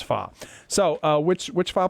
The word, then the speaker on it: Pho: probably fa delicious fa delicious and it is pronounced fa mhm as as my uh uh my wife keeps pronouncing it Fox so honey you heard it not just from